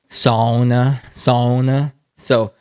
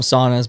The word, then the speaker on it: sauna: Sauna. So we call them saunas, but sauna.